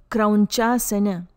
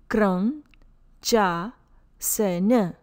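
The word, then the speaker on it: Krauñcāsana: parivritta krauncasana, revolved heron's pose. Letter N with a squiggly line on top sounds like Patanjali. Letter C for Sanskrit always sounds like ch, as in child.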